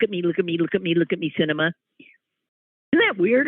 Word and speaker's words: Sinema: me look at me cinema isn't that weird her name is cinema like a movie she's in her no